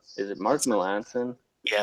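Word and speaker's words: Melancon: I always forget how to pronounce Mark Melanson's name. Is it Mark Melanson?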